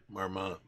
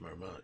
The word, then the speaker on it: Marmont: Marmmont. The NT is silent. Marmmont. French. But it's pronounced Marmmont.